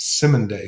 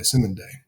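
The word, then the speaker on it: Cymande: dove by the group i think it's pronounced simon day c-y-m-a-n-d-e now it's an instrumental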